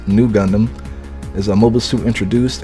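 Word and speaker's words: ν Gundam: For those who don't know, the RX-93V Gundam, pronounced Nugundam, is a mobile suit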